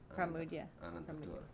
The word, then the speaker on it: Pramoedya Ananta Toer: And you pronounce it Pramoedya Ananta Toer? Pramoedya Ananta Toer.